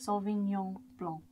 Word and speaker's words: Sauvignon Blanc: You've got S-A-U-V-I-G-N-O-N. Again, the G is not pronounced. You were saying how it's also pronounced kind of like a Y in the English language. Sauvignon Blanc. Nyon. And it's the N at